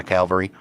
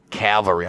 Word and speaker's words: cavalry: road where I had left my calvary. Cavalry. I've been trying to pronounce that. Cavalry. Cavalry. Cavalry. Cavalry. Where I had left my cavalry. Cavalry. Nope. Still got cavalry. Still got the L in there.